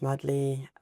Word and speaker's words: Madly: are um so yeah my name is madley like madley in love um oh really madley